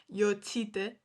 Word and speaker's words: Jocytė: But like the last name, I understand that, like, for Americans especially, it's really hard, but it's pronounced Jocytė.